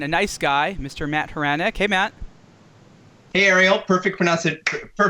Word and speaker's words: Hranek: Matt Khurana hey Matt hey Ariel perfect pronouncing perfect pronunciation of my last name thank